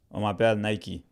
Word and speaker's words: Naicke: Yeah, my name is Nike. That's how it's pronounced. It's spelled different, but that's how it's pronounced. Nike.